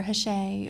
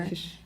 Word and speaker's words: Hsieh: I used to say it Heesh. Heesh. We're talking about that today. Yeah. Or Hshay. Hshay, Or Hish. do you spell it S-H-A-Y? That's how I know if someone really knows him. If they know how to pronounce his last name.